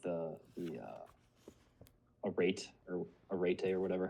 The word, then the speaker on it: arete: an answer, but it's more of like the arete or whatever.